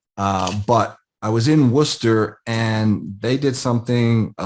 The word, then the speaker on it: Worcester: i was up there i was in worcester and i think i pronounced that correctly it's certainly not how it's spelled but i was in worcester and they did something